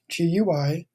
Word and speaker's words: GUI: GUI stands for Graphical User Interface, GUI. Most people pronounce it GUI, like a GUI chocolate chip cookie, for example.